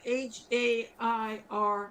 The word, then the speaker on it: Hare: But it's spelled like Hair with an E on the end. So Yeah. it's hair.